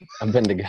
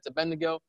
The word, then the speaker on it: Abednego: Abednego. Abednego. Yeah. Replied King Nebuchadnezzar, we do not need to defend ourselves before you. Okay, so awesome. You're right. It's Abednego.